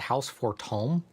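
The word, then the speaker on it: Fortemps: allies or her deaths it's pronounced house for Tom is that what he said he said for Tom I never would have guessed that what language does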